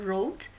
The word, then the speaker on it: wrote: خب همطور که میبینین توی این جواب ها مثلا wrote, W is silent.